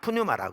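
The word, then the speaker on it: πνεῦμα: 근데 그러니까 신약 성경은 헬라어로 쓰여져 있는데, 헬라의 영이란 단어는 뉴마라는 단어입니다. 앞에 묵음까지 더하면 푸뉴마라고 흔히 그러죠.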